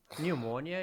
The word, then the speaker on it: pneumonia: pneumatic pneumatic pneumatic pneumatic so what letter is not pronounced P that P is not pronounced psychologist pneumonia do do you see do you hear the letter P in those words psychologist pneumonia pneumo and